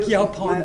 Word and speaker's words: Yaupon: Like Yaupon Yaupon, is. yeah. Yeah, Yeah, how do you pronounce it?